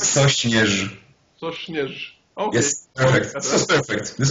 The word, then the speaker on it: Sośnierz: I hope you pronounce his name. It's Sośnierz.